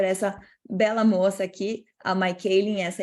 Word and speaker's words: Michaeleen: perdida de Educar Daily eu achava que o nome dela se pronunciava mikailen mas não é my keiling como se fosse o feminino de Michael como de costume eu